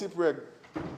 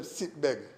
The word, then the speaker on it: Sipreg: And he mispronounced Sipreg and said Sitbeg, but he's all right.